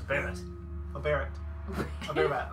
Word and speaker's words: Barrett: It's not Bear Bud. It's a Barrett.